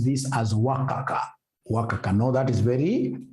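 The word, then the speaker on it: WACC: that M you should be pronouncing this as wakaka pronounce this as Waka wakaka know that is very unprofessional how do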